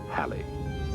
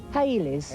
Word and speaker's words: Halley: forge modern predictive science by the way preferred pronunciation is Halle but in England and around the world linguistic license takes over Haley's now we pronounce it he pronounced so was